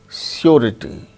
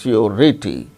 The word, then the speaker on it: surety: But r sound is pronounced when it is followed by a vowel sound, as in the case of surety, surety, surety, R-I-T-Y, rity. So, r sound is followed by a vowel sound E. So, r is pronounced surety.